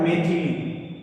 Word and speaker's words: मैथिली: जाता है अशुद्ध हो जाता है शब्द है मेथल अब मेथल ही नहीं होता मूल रूप से शब्द होता है पहले मैं लिखता हूं आपके सामने शुद्ध वर्ड क्या होगा शुद्ध वर्ड होता है मेथिली।